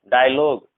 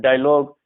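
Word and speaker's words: dialogue: पर जो है डायलॉग, इस तरह के जो वर्ड है इन सब में जो है यू साइलेंट होता है, यानी यू के जस्ट बाद अगर कोई सा भी इसमें से चार लेटर में से कोई सा भी अगर आता है तो यू साइलेंट होता है, ध्यान रखना।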